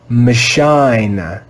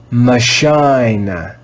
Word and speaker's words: machine: the sound i i if we followed that rule this word would be read as michine machine but that's not how this word is read this word is